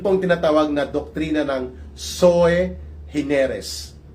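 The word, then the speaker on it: sui generis: Yun pong tinatawag na doktrina ng soe hineres o iba mag-pronounce diyan soeris pero sabi ng mga abogado soy hineres daw po yan ang ibig sabihin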